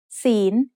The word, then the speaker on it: ศีล: ศีล is said with a rising tone because it has a high-class consonant with a live syllable ending.